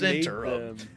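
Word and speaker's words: Zhentarim: And if you think that that's not pronounced right, hey man, Ed Greenwood came up with them, and he says Zentarum.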